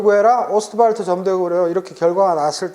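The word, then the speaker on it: Ostwald: 그래서 독일 분이라 오스트왈드 하면 그건 이제 미국식 발음이고 W가 폭스바겐 할 때처럼 W는 V 발음이 나요. 오스트발트.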